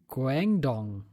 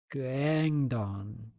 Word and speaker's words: Guangdong: So, next up on the also the 28th is Road to Guangdong. I think that's how you spell it. So, let's say it gang. Can you pronounce that Le also? Guang. Guang. Guang Dong.